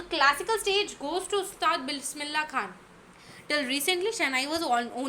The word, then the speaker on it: Bismillah: Never children just write like till A, do not write the H. No, you pronounce it like Bismillah, lah, so you'll know.